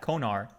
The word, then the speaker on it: Konar: Konar.